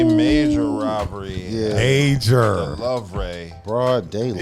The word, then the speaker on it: Louvre: The Louvre.